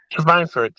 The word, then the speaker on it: Schweinfurt: Schweinfurt. Perfect. I mean, when we say Schweinfurt, the W's are V's, but she said it like a German Schweinfurt.